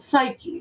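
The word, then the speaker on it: Psykhe: search engines and recommendations is a company called psyche which is spelled p-s-y-k-h-e now what they actually do is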